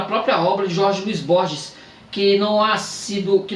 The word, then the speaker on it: Borges: o Jorge luí Borges em geral em meu país se pronuncia Borges que e queç isto